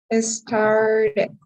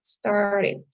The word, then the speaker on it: started: then that means that you're going to have to pronounce the long pronunciation that means that you will have to pronounce the E and the D so that means the third one is pronounced started right you actually do pronounce the ended started it's the long sound but if your verb